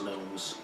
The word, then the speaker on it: gnomes: It's where Ladrin originally come from, as well as gnomes. Gnomes. The G is silent.